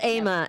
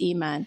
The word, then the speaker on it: Iman: No, that's Aman. Iman. I think it's Iman. Aman. You're right. It's Iman.